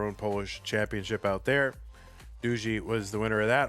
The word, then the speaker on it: Duzy: And anytime I try to pronounce, you know, names from Poland, I'll be like, "." And they'll be like, "No, it's doo." I'm like, "Oh, like dooie." No, it's doo. Oh, okay.